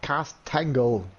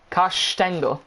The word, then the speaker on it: Castangle: Not Castangle. Castangle. Castangle. Castangle. Yeah, last week you said it right.